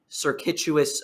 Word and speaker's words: circuitous: There's no U after the T there.